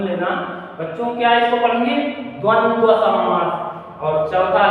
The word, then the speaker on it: द्वंद्व: इसको उच्चारण आप लोग थोड़ा सुन लेना बच्चों, क्या इसको पढ़ेंगे? द्वंद्व समास।